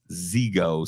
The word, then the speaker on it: Zego: is z i Paul my name is zego say it right with a Z baby like Z now it's weird